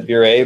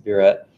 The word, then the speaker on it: burette: burette you ret um lots of people try to be fancy and pronounce a bureau but that's actually not correct it's a burette maybe it once was